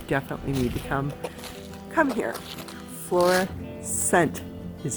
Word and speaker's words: Florissant: Florissant is how you pronounce it. Florissant National Monument.